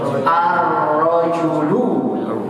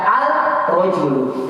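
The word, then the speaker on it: الرجل: Kita masukkan al jadi apa? Ar-rajulu. Lihat nih. Tidak kita baca al-rajulu, kecuali yang maaf cadel ya. Kalau cadel agak susah. Al-rajulu nanti begitu dia. Kalau yang maaf cadel. Tapi kalau yang tidak cadel maka baca benar ar-rajulu.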